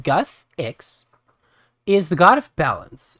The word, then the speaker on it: Guthix: but a fair bit and it says guthix pronounced guthix is the god of balance and nature and